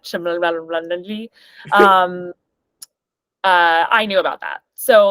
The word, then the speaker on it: Cholmondeley: and their neighbor, this Marchioness of Cholmondeley, which is how you say it, not Cholmondeley.